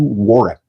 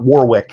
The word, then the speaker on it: Warwick: Warwick. And Mr. Davis's first name is pronounced Warwick. You do not pronounce the second W. Everyone says Warwick. Yeah. It is not Warwick.